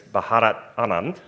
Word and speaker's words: Bharat Anand: He is a professor at Harvard Business School, although Rakib told me at breakfast that I may get laughed at by a pronunciation of Bharat Anand. Evidently it's Bharat Anand.